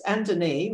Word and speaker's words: Antane: where uh and and it's anthony it's the inner pronunciation of andres anthony gabesh lived as